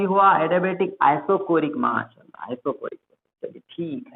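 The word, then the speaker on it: isochoric: हम जब पॉलिटेक्निक में थे वहाँ पे एक सर थे, वो आइसोकोरिक के बजाय आइसोचोरिक पढ़ते थे, आइसोचोरिक। तो आप आइसोचोरिक मत पढ़िए उसे, वो आइसोकोरिक है ना।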